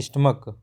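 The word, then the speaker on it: stomach: लिए यह कहा था जब लास्ट में सीच हो और हम इसका जो इसका उच्चारण सीच का उच्चारण हम च ना करके क के रूप में करें की के रूप में करें जैसे हम यह पढ़े थे हमने मैच है मैच में क्या है मैच में सीच को च पढ़ रहे हैं लेकिन अगर इसका उच्चारण क के रूप में करें जैसे स्टमक मोनार्क तब क्या है तब इसका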